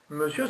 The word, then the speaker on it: monsieur: Monsieur, ça s'écrit M-O-N-S-I-E-U-R. Et vous ne dites pas monsieur, vous dites monsieur. Vous entendez M-E-U-S-S-I-E-U-R. Monsieur. Et pas monsieur.